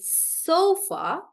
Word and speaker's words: sofa: this blindly, but generally, when a word is smaller and has 2 to 3 syllables, then generally the stress is on the first syllable. That is why we say sofa or industry, like that.